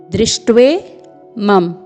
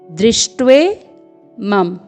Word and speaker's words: दृष्ट्वेमं: यहाँ पर द में री का स्वर है, न कि र का। तो इसका उच्चारण होगा द्री, द्री।